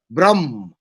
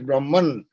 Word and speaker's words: Brahman: Nirgun Brahm. It's called Brahm, or as is spelt in English, Brahman.